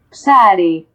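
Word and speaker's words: ψάρι: Psare.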